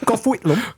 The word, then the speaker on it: Gough Whitlam: So you start to see, you have two prime ministers, John Gorton and I'm going to mispronounce. Come on. Gough Whitlam. Definitely. Gough Whitlam.